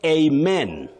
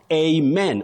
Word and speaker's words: amen: You say amen. Amen. Or amen. The two pronunciations are acceptable as alternatives.